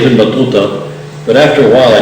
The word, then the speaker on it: Ibn Battuta: The T's in his name, and I know some of you are American students maybe studying Arabic, the T's in his name are what are called an emphatic, meaning that makes that to sound to rather than to, you know.